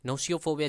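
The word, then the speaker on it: gnosiophobia: नोशियोफोबिया, जी silent है यहाँ पे, प्रोनाउंसिएशन पे भी ध्यान दीजिएगा।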